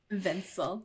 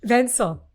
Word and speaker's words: Vencill: and you co-wrote this book with Dr Jennifer vansell did I pronounce her name correctly vencel yeah vencel it's it's fantastic Lauren I'm just so happy